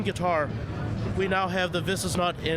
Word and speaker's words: Visesnut: And I'm here with Marshall from Visesnut. Am I pronouncing it correctly? That's right. Yeah, Visesnut USA. Visesnut.